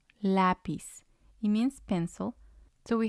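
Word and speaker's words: lápiz: not on the last syllable so we will pronounce them differently we have lapis lapis it means pencil so we have our syllables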